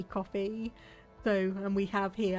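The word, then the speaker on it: Ko-fi: you sent through viacom kofi coffee i'm not quite sure how it's meant to be pronounced i think it's just meant to be coffee though and we have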